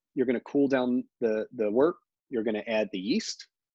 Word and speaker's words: wort: So it's pronounced wort.